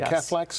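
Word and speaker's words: cephalexin: The the cathlex, is that how you pronounce it? Am I pronouncing that correctly? Uh, Catholics.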